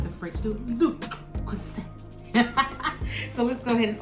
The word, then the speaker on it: Le Creuset: I called it le Creuset, but the T is silent, and it is, when they do it like the French do, le Creuset.